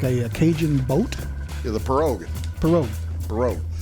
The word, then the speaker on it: pirogue: Yeah, the pirogue. Pirogue. Spelled like pierogi, but that's a pirogue.